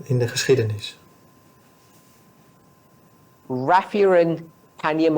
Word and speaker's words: Panium: Raphia and Panium or Panium, I say Panium, but I agree with you. Proper way to say it, Panium.